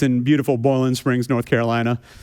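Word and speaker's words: Boiling Springs: It's in beautiful Boland Springs, North Carolina. Notice I said boiling. It's not boiling like that's too many syllables.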